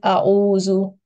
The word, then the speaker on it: أعوذ: Okay, so Alif should be pronounced in soft voice and Ayn should be pronounced in a bit deeper voice. Okay, so yeah, with a little more effort, I should say. So it is A'uzu. Try to distinguish between the sounds of Alif and Ayn. Both are pronounced from the throat, but their articulation points are a little different.